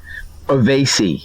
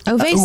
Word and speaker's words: Oveysi: Just think of the word obey, but replace the B with V. So Oveysi, and add an S and an I in the end. Okay. Oveysi.